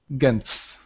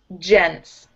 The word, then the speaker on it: gents: Gents. Gents. Gents. Yeah. Like gentleman. It's pronounced like a J.